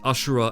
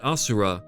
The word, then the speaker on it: asura: names of his sons ashura and indra are once again references to buddhism and hinduism i already mentioned that asura to use the sanskrit pronunciation is usually translated as